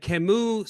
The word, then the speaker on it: Camus: Albert Camus. I used to pronounce it Albert Camus until I had a French student years ago relentlessly mock me and straighten me out with Albert Camus.